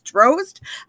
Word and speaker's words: Dros: and second um so my last name is dros for the long o and a lot of people are saying it wrong so i just want to clarify it's drowsed um and i love